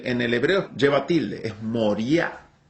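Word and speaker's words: Moriah: tierra de moría y se pronuncia no moria sino moría moría en el en el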